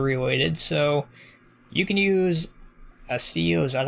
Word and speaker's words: Accio: Harry Potter related, so you can use a CO, is that how you pronounce it?